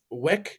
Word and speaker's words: Wyc: I can't pronounce his last name. Wick is Wick, right?